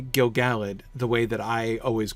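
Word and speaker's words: Gil-galad: Gilgalad, right? Gilgalad is an intrinsically iambic feel as well. If you put the stress on that middle syllable.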